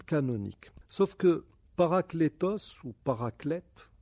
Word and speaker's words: paraclète: Sauf que paraclétos ou paraclète, certains en français ils disent paraclé, mais bon, on devrait prononcer le T parce ça vient du grec.